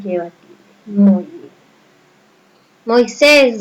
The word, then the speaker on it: Moisés: Moisés, ¿dónde lleva mayor fuerza de voz? Acento. En ses.